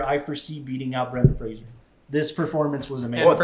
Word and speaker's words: Fraser: I'm pronouncing it correctly. It's Fraser, like razor.